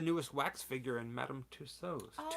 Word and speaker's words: Tussauds: Tussauds. Tussauds. I Not know. Someone corrected Tussauds. me on that because Yeah. I kept saying Tussauds. and It's almost like you that don't line pronounce the D.